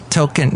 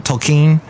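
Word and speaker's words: Tolkien: Token. Not JR token. That's not how you say his name. Tolken.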